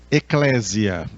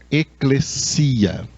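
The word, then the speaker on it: ἐκκλησία: muitas pessoas pronunciam erroneamente eclésia. As pessoas pronunciam assim eclésia por não conhecerem a língua grega. Na língua grega essa palavra se pronuncia eclesia.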